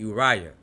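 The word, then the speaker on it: אוריה: You see Uriaya and you have it right here with the uh olive and the u the shet making the oo. Olive is silent. Oo. You have the race with the hier yod making the i sound. And then you have the uh yod making the yah sound. Uya.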